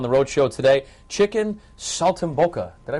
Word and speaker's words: saltimbocca: joining us on the road show today Chicken Salt and boka did I pronounce that correctly yes you did not bad